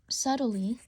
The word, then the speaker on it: subtly: operate usually operate sub subtly I hate that word I always pronounce the P the B but like there's no B English is stupid um